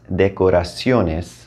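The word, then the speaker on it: decoraciones: typo it does but you may have noticed that you still managed to put the emphasis in the correct place even without the accent mark telling you right like that's why spanish didn't need to add it so go ahead and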